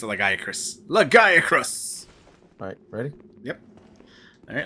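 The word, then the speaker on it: Lagiacrus: Not Lagarius, Lagiacris.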